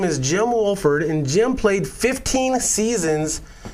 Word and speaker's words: Wohlford: I'm doing pretty good so did I pronounced your name right your last name right Wolford yes it is yes sir sweet sweet